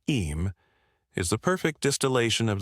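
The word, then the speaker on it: Eyam: Although this happened later, in Sixia, the story of Ayam, pronounced Eam, is the perfect distillation of the spirit of the plague years.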